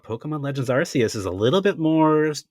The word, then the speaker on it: Arceus: going to be controversial pokemon legends arceus not archaic not arceus it is arceus arceus even the japanese pronounces it arceus oh you say that wait